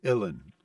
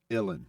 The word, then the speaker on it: uilleann: It's Uilleann. Like chillin', Uillinn.